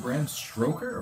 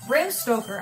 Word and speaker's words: Bram Stoker: Is it Bram Stroker or Stoker? Bram Stoker. I said it wrong.